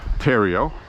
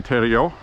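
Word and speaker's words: Theriault: spelled like theal in English but it's a Tero a Tero that's how it's pronounced but um he had Mike sobleski run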